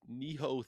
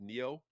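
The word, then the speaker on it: Nioh: And lastly, Neho 3. Did I pronounce that right? Neo.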